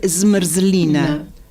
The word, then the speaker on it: zmrzlina: Se dice zmrzlina. ¿No? Y son todas consonantes y en este caso de helado, una vocal ahí perdidita.